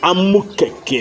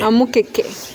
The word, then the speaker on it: amukeke: told you is called amukeke. amukeke. Yeah, M when I cake. traveled to some other countries and they couldn't pronounce it, I just said, say cakes. Arm cakes.